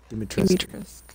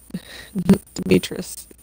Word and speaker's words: Dimitrescu: Dimitrescu. No, you don't pronounce the U. It turns out the U. It turns out the U at the end. Oh, silent. It's actually silent. It's pronounced D-E-E-M. Dimitrescu.